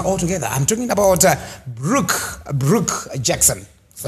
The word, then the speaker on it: Bruk: for having me so your name is Brook Brook Jackson okay spelled differently but pronounced the same you know kind of